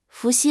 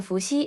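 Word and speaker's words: 伏羲: with a rising voice the pronunciation of she is similar to the English word c but in Chinese she is pronounced with a weaker airf flow and the tip of the tongue is more forward we can imitate and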